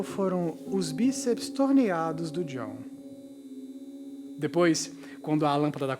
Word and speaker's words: John: Com aquele J de pronúncia em inglês. John.